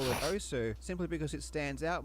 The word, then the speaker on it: osu!: The official pronunciation is OS, as confirmed by the developer.